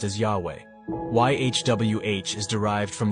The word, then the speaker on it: Yahweh: vowels were introduced God's name was then commonly pronounced as Yahweh why HWH is derived from the Hebrew verb